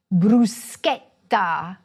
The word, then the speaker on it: bruschetta: Just like the word you should pronounce this way: "bruschetta."